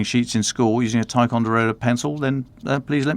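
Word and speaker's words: Ticonderoga: Thanks to Colleen pronounced Tyonderoga, which I didn't know.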